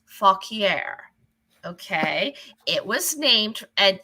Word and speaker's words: Fauquier: It is spelled FAUQUIER. It is pronounced Fauquier.